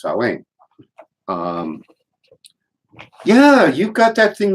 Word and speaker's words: Samhain: h AI n but because it's in garlic it's pronounced so ain't yeah you've got that thing over there on